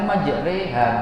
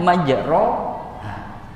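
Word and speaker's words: مجراها: Lu kenapa dibaca majreha padahal tulisannya majroha? Karena itu yang diajarkan oleh guru-guru kita sampai ke Imam Asim, sampai ke sahabat, sampai ke Rasulullah Sallallahu Alaihi Wasallam.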